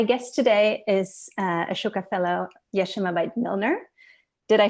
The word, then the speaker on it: Yeshimabeit: america and my guest today is ashoka fellow yeshimabite did i pronounce this correctly is she um yeshimabet but i ishmael milner you know when we